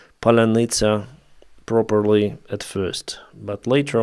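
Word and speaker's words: паляниця: me, I didn't pronounce Palinitsa properly at first, but later on, yeah. Usually Russians pronounce it as Palanitsa. Palanitsa. In Ukrainian, it's Palanitsa.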